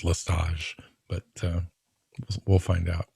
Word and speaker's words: Lestage: our youtube channel that the t in his last name is not pronounced i don't know i've heard it just listage but uh we'll find